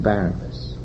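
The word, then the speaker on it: Barabbas: not you are releasing Barabas son of the devil is the human identity which is controlled totally by the world mind that is barabus and his correct pronunciation is bar abas son of the devil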